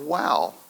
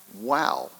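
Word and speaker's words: Wau: in the town of Wow. Wow, W-A-U, but it's pronounced just wow.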